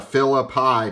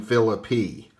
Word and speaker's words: Phillippe: We can eliminate the Philippi pronunciation.